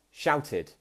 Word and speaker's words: shouted: Now, the last one that I have for id is shouted.